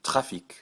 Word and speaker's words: trafic: If it's in the word careful, C, R, F, or L, then generally pronounce it. That'll give you trafic, trésor, golf, and email.